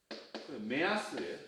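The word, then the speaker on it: 目安: 어쨌든 야스이였으니까 얘를 한번 매라고 읽어버렸잖아요. 얘도 혼자 남은 거니까 야스라고 읽어요. 메아스예요. 메아스.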